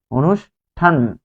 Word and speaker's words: অনুষ্ঠান: শব্দের শুরুতে যদি অ থাকে এরপরে যদি কোনো কার থাকে তাহলে এটা কি হবে? ও হবে, ও। তারপর হচ্ছে নু, যেহেতু এখানে ভাঙলে হবে মূর্ধন্য স আর ঠ, এই মূর্ধন্য স এর পরিবর্তে আপনি দিবেন তালব্য স, অনুষ, থামলেন, তারপর ঠ আকারে ঠা, অনুষ্ঠান, যেহেতু ঠান বলছেন, ঠানো না ঠান, অনুষ্ঠান, তাই এখানে আপনি আরেকটি হসন্ত দিবেন উচ্চারণ।